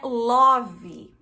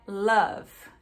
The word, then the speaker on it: love: Mas enfim, não é love, é love. É bem mais sutil, tá?